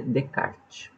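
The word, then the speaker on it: Descartes: e a entender se escreve discards a Card on é mas a gente fala Renê de kart e ele amor mais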